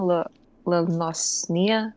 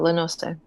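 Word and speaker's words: La Noscea: of the local tribes in how do you pronounce it again? La Nosnia or something? Remind me again how you pronounce that overall Lano, region. what Lanose? There we go, Lenoste.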